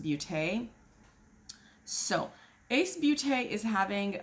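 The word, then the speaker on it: Baute: you corrected me that b-a-u-t-e should be pronounced Bute so Ace beauty is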